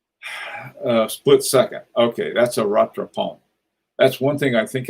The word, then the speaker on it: rattrapant: Okay, that's a rattrapant. That's one thing I think I can actually pronounce correctly. Everybody say rattrapant.